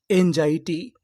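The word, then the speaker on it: anxiety: अगर आपको आखिरी में टी वाई लिखा मिले तो टी वाई को पढ़ते हैं हम लोग टी। तो पूरी मीनिंग क्या बनी, एन जाई टी, एनजाइटी, एनजाइटी।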